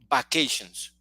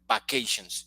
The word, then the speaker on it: vacations: Normally we say vacations, and it's not correct. The pronunciation is not correct. Vacations is not correct. Yeah, the correct pronunciation is vacations. There is a vibration at the beginning.